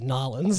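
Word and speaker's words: New Orleans: we never pronounce the name correctly. It's Nolans. If it ever floods too bad, we use a big spoon to scoop people out.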